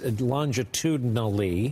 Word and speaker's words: longitudinally: You look at the map, with the exception of Arizona, longitudinally, it's longitudinally. Got it. I cheated myself on a syllable that first time.